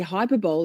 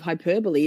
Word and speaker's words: hyperbole: Every the number of times I say hyperbol instead of hyperbole is not even funny.